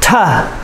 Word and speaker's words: to: And so, for example, the word to. Many times we pronounce it ta.